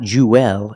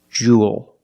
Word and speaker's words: jewel: This word, jewel. It's pronounced the same as cool and pool. You have the long oo sound plus the dark L. There's no extra vowel. It's not jewel, it's jewel.